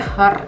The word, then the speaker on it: Hur: Oh, her. Hur tapi dibacanya her kayak gitu.